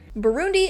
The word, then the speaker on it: Burundi: In English, it is normally pronounced as Burundi. Burundi is, as of right